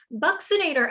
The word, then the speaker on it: buccinator: have the the muscle buccinator it's pronounced with uh like a ks boxinator buccinator actually brings the cheeks